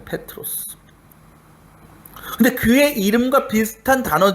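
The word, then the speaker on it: Πέτρος: 너는 베드로다라고 하시죠.이 이 베드로라는 말의 정확한 헬라어 발음은 주석에도 나와 있지만 페트로스입니다. 페트로스.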